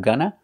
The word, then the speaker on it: gonna: going to make it pronunciation of Gunna we use the short of sound like cup and up for both syllables g n GNA GNA GNA same sound both syllables a gunna you're going